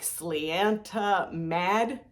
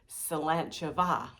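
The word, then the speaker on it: Sláinte mhath: And you might also see something else that looks like slianta mad. No, that's pronounced slanchava, and that means health and happiness.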